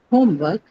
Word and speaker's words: homework: So it's football homework and blackboard. Okay. Stress is automatically on the first one.